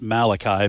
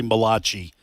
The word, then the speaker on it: Malachi: I always like to correct people most people pronounce it Malachi but it's actually Malachi and it's the first Italian first Italian prophet